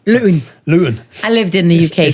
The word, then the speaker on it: Luton: Luton. We don't pronounce our T's from Luton. That's like bottle, water. Luton.